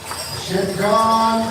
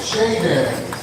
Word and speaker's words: Shaden: Shannon Obey, our cadet Shidgon Goodwill, nope, Shaden.